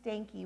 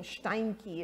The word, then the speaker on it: Steinke: like i remember mrs stanky was her name kind of a horrible name but anyway mrs stanky a german name steinke is how it should have been pronounced she taught me the